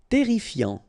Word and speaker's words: terrifiant: Terrifiant. Final T not pronounced. Double R here, so it will open the pronunciation of your E, and then it will be E.